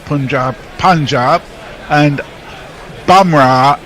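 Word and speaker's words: Bumrah: not punjab punjab and bamra never pronounced like bum always boom so boomra and punjab okay punjab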